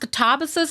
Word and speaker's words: Katabasis: Well, I think to be honest, I think it's pronounced katabasus cuz that's how she says it.